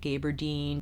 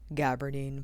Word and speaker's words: gabardine: much takes on that gaberdine gabardine alicia it's pronounced gabardine so they're very consistent